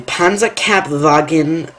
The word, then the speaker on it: Panzerkampfwagen: Number six, it's a mouthful, but I can pronounce this properly. The Panzerkampfwagen 4, otherwise known as the Panzer 4.